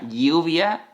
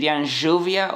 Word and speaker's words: lluvia: for example "lluvia" (rain), I would say lluvia and they would say /juvia/ or /shuvia/. Then, as you can see,